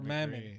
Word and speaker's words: Mammon: Mammoth, or Mammon. So I said it wrong. It's Mammon, not Mammoth. And the last one is the Wrath royal family, Samuel.